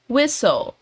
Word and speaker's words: whistle: Preste atenção aqui que a letra T não é pronunciada. Whistle, whistle.